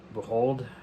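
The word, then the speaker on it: Bujold: is in here Genevieve I cannot pronounce her last name behold b-u-j-o-l-d behold I think that's how you say her last name to this set or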